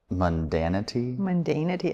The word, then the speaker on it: mundanity: They were trying to escape a life of mundanity, I think.